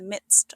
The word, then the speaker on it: midst: Doolittle finds himself in the midst of the jungle. It's pronounced midst with a quiet D and a crisp ending.